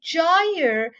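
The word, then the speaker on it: gyre: In that book, he's written that you have to pronounce it with an emphasis of the word, of the sound J. Jaya.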